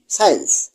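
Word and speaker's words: science: এস এর পর সি থাকলে সি এর উচ্চারণ হয় না। যেমন এস সি আই ই এন সি ই সাইন্স এস সি ই এন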